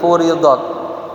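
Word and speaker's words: فُرِضَتْ: Zakat fitrah ini furidat ya, kita bacanya dimajhulkan dumma awwaluhu wa kutsira ma qabla akhir.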